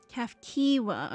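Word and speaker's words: Cahciua: The odd machine that was cuff kiwa, I take it. Kafkiwa.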